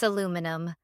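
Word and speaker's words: aluminium: It's aluminum. There's an extra I in there. You guys added an extra I? Why would you make it longer? Because that's how it's spelled. You lot just decided to drop it.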